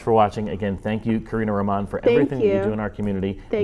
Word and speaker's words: Karina Roman: It's Karina Roman? Yes. Oh, I've been mispronouncing it this whole time.